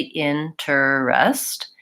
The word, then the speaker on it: interest: like it should be interests and we actually pronounce it interest with two syllables so we don't say